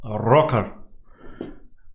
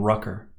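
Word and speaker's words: Røkkr: Viking pronouns rocker rocker the correct pronunciation being Rucker with rolling arse rock art of the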